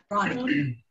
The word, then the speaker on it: Roni: Is it Roni? Am I saying it right? Ronnie. You're muted there, Roni. Just turn on your button, please. Okay, there you go. Good. Nice to meet you. I'm Ronnie.